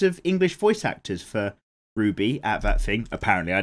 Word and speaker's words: RWBY: Are you supposed to pronounce that as Ruby?